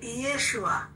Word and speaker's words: ইয়েশুয়া: তা এই ঈসা আলাইহিস সালামের নাম যেটা অরিজিনাল নামটা এরকম উচ্চারণ ছিল যে ইয়েশুয়া।